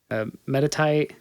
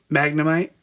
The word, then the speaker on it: Magnemite: Um the I always butcher the names. Metatite, Magnemite, and Magneton.